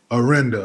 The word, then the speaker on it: Orinda: But you were born in Berkeley and pronounce it again for me? Orinda.